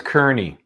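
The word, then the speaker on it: Kearney: Cosbro says uh I don't know actually he pronounces his name weird right he says Kernney Kernney he says Kernney he looks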